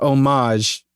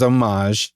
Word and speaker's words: homage: There's also a lot that pronounce it homage, which is how it's pronounced in French because it's a French word.